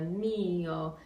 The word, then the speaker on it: mio: You can also think of having the mio, just a little bit more emphasis on the first syllable of that.